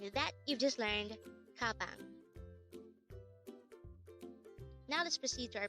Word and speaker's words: 가방: Gabang. Gabang. This is the Korean word for bag. Again, gabang is just the Korean term for bag. Take note that gabang is also just composed of two syllables.